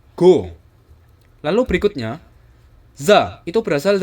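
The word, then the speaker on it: ご: peti atas menjadi G go yaitu ko diberi dua peti atas menjadi go lalu berikutnya ZA itu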